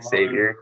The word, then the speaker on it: Xavier: It's Xavier. It's like you pronounce the X.